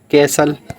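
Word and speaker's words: castle: द्वीप कैसल किला हो जाता है। तो इसमें टी साइलेंट एल एल आ रहा है इसमें।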